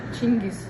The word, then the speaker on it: Chingis: of mine because it's like because was it gingas was it jangus was it I've heard so many versions I'm like how do you say his name chingis chingus yeah wow I never I thought it